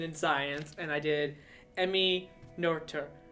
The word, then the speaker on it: Emmy Noether: So again, because I'm a thief, I stole Ansh's idea for women in science, and I did Emmy Noether, right?